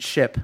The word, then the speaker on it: Shyp: yeah, It's called it's Ship. It's With a Y.